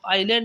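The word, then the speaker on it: island: A group of आइलैंड, इसमें S silent है, टापुओं का समूह।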